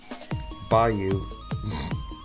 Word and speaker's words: bayou: Bayou it's pronounced sorry they'll have my head for that in new New Orleans. Never step foot in New Orleans I guess by you.